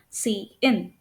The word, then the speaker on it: cin: So and also note that this is pronounced as C out whereas this is pronounced as C in.